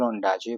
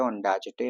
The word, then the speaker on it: Ondaatje: एक चीज याद रखना मैंने माइकल ओंडाजे बोला क्योंकि टी जो है वो साइलेंट है ओंडाजेटे नहीं होता ओडाजे होता है दिस दिस पोम इज़